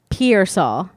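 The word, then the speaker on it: Pearsall: AR got pear so but it's pronounced Pierce all like Pierre anyways there rig number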